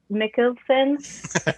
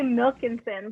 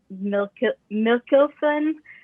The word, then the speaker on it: Mikkelsen: Lars Mikkelsen as Thrawn. I want to say Milkinson, but it's not Milkinson.